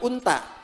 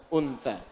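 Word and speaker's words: أنثى: Awas bacanya yang benar, bukan unta. Unta. Tsa. Untsa.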